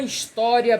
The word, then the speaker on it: história: No entanto, quando esse H é mudo, ele funciona como vogal. Por exemplo, vamos ver aqui. Acho que eu dou um exemplo aqui. Ó, uma história bem legal.